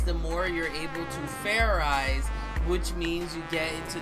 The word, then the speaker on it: fairize: Fair rice? Is that sort of like fried rice? Idiot. It's pronounced fairize. There's no ice in it.